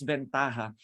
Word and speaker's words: Ventaja: or ventaja when you when you spell it it's been Taja it's pronounced as ventaja they're actually started as